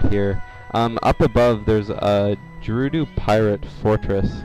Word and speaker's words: Gerudo: Up above, there's a Gerudo pirate fortress. I always called them Gerudos. Gerudo. I've always pronounced the J.